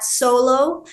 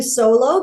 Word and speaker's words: Soulo: is Tracy T Cey solo and I spell it s o u l o because it's like solo theater s o l o but it's putting your soul on stage soloa the website is solo.